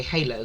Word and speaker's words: Holo: I want to say Halo because I think that's the most common pronunciation.